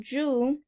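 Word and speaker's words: 猪: The ad was for the Year of the Pig, and in Mandarin, Zhu, ZHU, means pig, which is similar to the English pronunciation of Jew.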